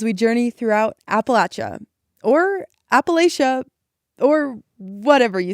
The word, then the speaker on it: Appalachia: I felt like a lot of people were getting angry about the pronunciation. And I think a lot of folks who say Appalachia aren't necessarily being dismissive. That's just the way they've heard it.